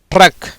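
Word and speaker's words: truck: Correct, ட்ரக். ஏன்னா அந்த சிக்கு உச்சரிப்பு கிடையாது.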